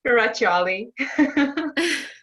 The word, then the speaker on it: Ferraciolli: Ferraciolli.